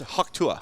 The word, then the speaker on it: Haktua: It's pronounced Haktua. Haktua, is yeah. how it's pronounced.